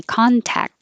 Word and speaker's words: contact: both they're all fine contact lenses you don't have to say the final t at all and that c sounds like a k so you can say contact and hold the k contact lenses and if you just